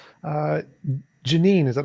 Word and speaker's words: Jeanine: Uh, Janine, is that how you pronounce your name? That's how you pronounce it. Janine, it's nice to have you on.